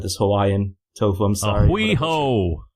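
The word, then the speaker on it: A hui hou: Ahui ho. That's how you pronounce it.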